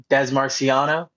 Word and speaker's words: Dez Marciano: Des Marciano, exactly how it's pronounced.